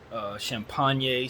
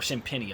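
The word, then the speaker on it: Champagnie: Champagne showed a lot of pop in the or Champagny, I think is how you say that, Champagny.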